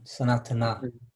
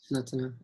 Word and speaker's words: Sanatana: Is it Sanatan or Sanatana? Sanatana. Sanatana, either? You can say Sanatan Dhan.